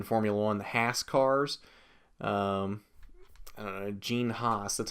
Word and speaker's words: Haas: call them in Formula One the Haas cars gene Haas that's how you pronounce his name I've never understood why the the f1 commentators call it Hass because it's not pronounced TAS it's pronounced Haas but anyway never mind that anyway back to